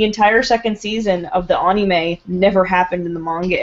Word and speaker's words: anime: second season of the anime never happened in the manga at all may when it's anime it's Anie May uh that's a that's the uh correct pronunciation I don't care I